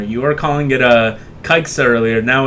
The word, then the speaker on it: Caixa: It's definitely Kaixa. Caixa.